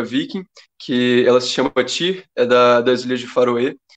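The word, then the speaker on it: Týr: que ela se chama Tyr, das Ilhas de Faroé. E, na verdade, até existe outra pronúncia. Lá nessas ilhas eles chamam de Tuir. Tem uma pronúncia diferente.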